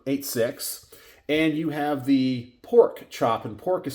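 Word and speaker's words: Porq: specifically designed for 86 and you have the pork chop and pork is spelled p o r q and obviously one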